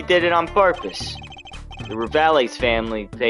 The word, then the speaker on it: Rivales: We Kitakis are having what you might call a feud with the Rivales family. I don't know if I just should say rivals, but I feel like the E needs to be pronounced.